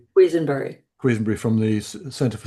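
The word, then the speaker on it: Quesenbery: Um, how should you pronounce it? Queensbury. Quenbury.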